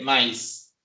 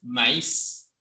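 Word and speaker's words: maíz: chica les da ma no se dice maís es maís y así un rato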